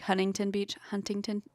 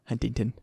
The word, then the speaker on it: Huntington: The accent is that we don't pronounce our T's, right? Yeah. So like Huntington Beach. Who says Huntington?